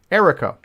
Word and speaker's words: Eriko: Eriko. Okay, like Jericho.